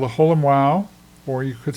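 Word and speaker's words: ו: They pronounce it wow. W A W. But in modern day Hebrew, it's called a vav. So, it has a v sound rather than the w sound.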